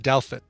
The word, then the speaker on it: Douthit: Eric Ferris says it's pronounced Douthit. Douthit? Douthit. So Taylor Tater Douthit. I doubt it.